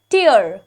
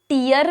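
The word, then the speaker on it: tear: am saying the word टियर टी ई ए आर नाउ इसका क्या है इस वर्ड को हम टियर भी पढ़ते हैं और इस वर्ड को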